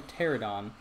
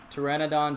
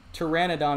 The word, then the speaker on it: pteranodon: me pteranodon terror okay i keep saying pterodon i don't actually i don't know why i i just i hadn't heard anybody pronounce it differently so in my mind it was fun it's just one of the things i haven't really thought about i mean it's pteranodon pterodon i mean it's either